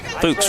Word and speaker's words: Fuks: Fuks rhymes with books.